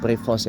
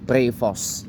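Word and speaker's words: Prevost: Jadi dibacanya bukan prevos ya, tapi prevos ya.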